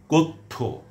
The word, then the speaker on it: কথ্য: তো আরও বলছি, বন্যা, অধ্যক্ষ, অভ্যাগত, কথ্য, পথ্য, সত্য, সন্ধ্যা, শয্যা, তথ্য, লভ্য, শল্য, ধন্য ইত্যাদি।